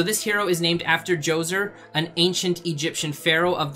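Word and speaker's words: Djoser: the next one here is Joe's er I believe that is how you pronounce it if I remember from my history class correctly so this hero is named after Joe's er an ancient Egyptian pharaoh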